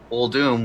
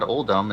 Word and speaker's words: Uldum: Well, because no one ever said, hey, it's not Uldum, it's Uldum. I mean, it's not DOOM.